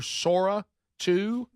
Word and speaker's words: Sora 2: Sora 2?